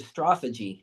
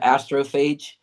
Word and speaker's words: astrophage: Also, in my mind I'd call it astrophagy more like like the way you'd say it like a Greek god or something, but they called it astrophage.